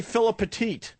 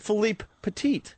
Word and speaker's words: Philippe Petit: Most people say Philip Petit, so I purposely was trying to say his name right. So I said Philippe Petit.